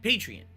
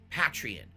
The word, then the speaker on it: Patreon: And so I adopted Patreon, or Patreon, or Patreon. Nobody calls it like that. No. Like you're a patron of the arts, Patreon.